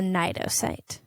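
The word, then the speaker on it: cnidocyte: tentacles called a nidocite it's spelled with a silent c at the beginning which i don't understand i don't understand much about biological naming systems but that was how i learned that it was pronounced so they have a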